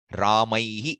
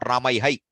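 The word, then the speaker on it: रामैः: Ramaihi, not Ramaihai.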